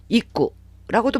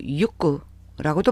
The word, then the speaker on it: 行く: 일본어 단어 동사 JLPT M4급 단어 입구라고도 발음하고 육구라고도 발음해요.